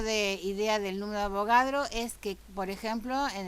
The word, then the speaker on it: Avogadro: como el número de abogados y abogados es este señor de acá no siempre se dice número de abogado no se dice 6,02 por 10 a las 23 se dice el número de avogadro y ya sabemos que